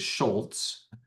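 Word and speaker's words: Schulz: So, like my, you know, my last name is is Schultz, pronounced with a T, but not spelled with a T.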